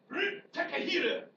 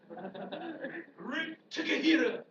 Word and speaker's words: Takahira: And the Takahira agreement. There's no accent marks in the Japanese language, so it's just all syllables that run together. Takahira agreement, where they're going to agree to honor the open door.